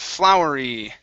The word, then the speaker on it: flowery: to um all right flowery okay right here flowery fields flowery fields try that trowery fears okay full now when you pronounce the f l your tongue should touch the top of your mouth full flowery flowery fields